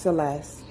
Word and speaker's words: Celeste: It is pronounced Celeste. Celeste, okay.